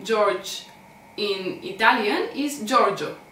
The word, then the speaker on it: Giorgio: G is followed by E, and that's why we pronounce this as Gio.